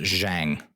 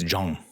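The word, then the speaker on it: Zhang: i I would have bet my life that's pronounced Jang or Zang and it said it's Jong I I feel like a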